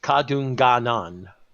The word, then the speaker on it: Kadunganon: It's just Kadunganon.